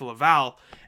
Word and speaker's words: Laval: i shouldn't be able to pronounce it not pronounce that i got family in laval so it's a little embarrassing it's laval and manitoba the manitoba moose which play in